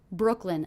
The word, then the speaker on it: Brooklyn: in Brooklyn in Brooklyn Brooklyn a two-syllable word one of the syllables will be stressed what do you hear as being stressed Brooklyn Brooklyn definitely it's that first syllable Brooke Brooke Brooklyn Brooklyn